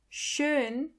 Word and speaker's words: schön: Schön. Means beautiful. Do you hear the O umlaut in the middle?